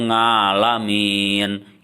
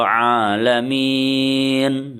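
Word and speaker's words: العالمين: Ada lagi yang membaca rabbil ngalamin. Itu juga salah. Yang betul adalah ain, ya. Ainnya itu keluar dari dalam, ya. Itu adalah ain, bukan a, bukan nga, tapi a, ya. Dibacanya adalah yang betul Alhamdulillahi Rabbil Alamin. Nah, seperti itu.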